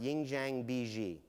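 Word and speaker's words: 印象笔记: It's pronounced Yingjiang Biji.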